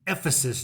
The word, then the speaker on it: Ephesus: loft and lodge in Ephesus Georgia yeah I said it right almost sounds like a sneeze versus if this is